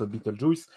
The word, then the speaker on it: Beetlejuice: jeune mot entre ENF il s'appelle betle g et ça ça se prononce beattle juice une charade à un